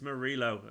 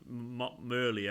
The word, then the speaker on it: Murilo: yeah there's probably wrong it's murillo not Murli Oh Marilla Clara as